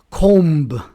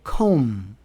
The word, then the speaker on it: comb: The B is silent after M at the end of a word. For example, we don't say com, we say comb, thumb, climb, bomb.